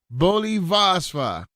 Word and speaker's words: Volim vas: Volim vas. That means I love you guys. Okay, let me see if I'm saying it right. Volim vas. It's volim vas.